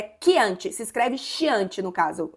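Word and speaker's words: Chianti: É quiante. Se escreve chiante. No caso, a pronúncia correta é quiante, porque é italiano.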